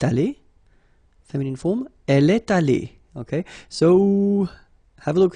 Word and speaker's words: allée: Phonetically, it doesn't exist. You don't pronounce it, so you get elle est allée, and then for the masculine form, il est allé. So aller is pronounced the same way, but still you have to write it, okay?